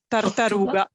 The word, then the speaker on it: tartaruga: tartaruga.